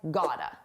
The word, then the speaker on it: got to: You got to got to sounds like gota.